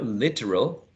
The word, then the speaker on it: literal: only two literal literal eliminating the schwa that is in the middle remember that we see